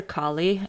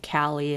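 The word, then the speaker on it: Kali: go lay down kie I named her kie after the Hindu goddess of Destruction but everyone pronounces her name cie and that's really really different that's a very different thing okay now that she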